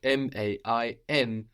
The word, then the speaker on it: main: And this is spelled M-A-I-N. We don't hear that N, la main, the hand.